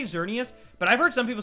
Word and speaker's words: Xerneas: heard so i say xerneas but i've heard some people say it's supposed to be pronounced literally exernius like you're supposed to pronounce the x because it's the x mascot and when you say